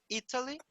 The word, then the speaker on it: Italy: Então, percebam que Italy, a sílaba tônica é no I, Italy, e I am Italian.